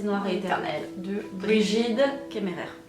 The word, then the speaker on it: Kemmerer: et éternel de Brigide Kemmerer. Oh, französisch, Kemmerer, c'est bien. Oui, on va prononcer à la française.